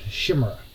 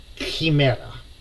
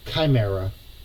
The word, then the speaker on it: Chimera: the creature as a shimmer now it's actually in Greek it is actually pronounced Kimera or Chimera is what it should